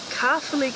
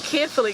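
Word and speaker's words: Caerphilly: good morning and we're here in kaffirly castle which is how we saw how to pronounce it online so i apologize if that's not correct this morning we were calling it carefully castle because they might be capably castle we don't know anything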